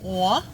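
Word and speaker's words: Å: a with a circle on top apparently the pronunciation is a so the place is called a and Owen's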